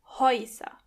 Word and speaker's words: Häuser: As you can hear, when the letter A umlaut comes before the letter U, together they are pronounced Oi. Häuser.